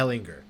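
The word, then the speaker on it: Ehlinger: Ellinger. Okay. I think the G. Yeah. Yeah. Ellinger. I think the G is silent.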